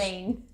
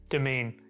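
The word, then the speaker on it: Demesne: How's it you pronounce? Domain. Domain. If anybody knew how to pronounce that while looking at the word, fair play to you.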